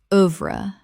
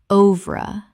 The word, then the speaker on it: oeuvre: Oeuvre. Common mispronunciation. Oeuvre. Correct pronunciation. Oeuvre. 2 syllables in English. The OE makes a short U sound.